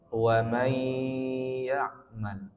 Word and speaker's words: وَمَن يَعْمَلْ: فمن يعمل مثقال ذرة خيرا يره Ayat berikutnya terakhir وَمَن يَعْمَلْ مِثْقَالَ ذَرَّةٍ شَرًّا يَرَهُ Nah, kalau di ayat 8 ada 3 dengungnya. Yang pertama, wa may ya'mal.